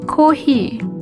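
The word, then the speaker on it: コーヒー: careful with the pronunciation although it's an english word we say kohi so kohi o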